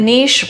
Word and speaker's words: niche: A niche rhymes with kiche and kiche belongs in France.